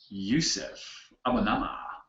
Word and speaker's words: Yusef Abonamah: A very sexy demonstration by the one and only Yusef Abonamah.